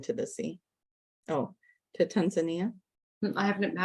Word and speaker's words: Tanzania: I won't be able to say it correctly. Tanzania. Tanzania. Tanzania. That's how you say it.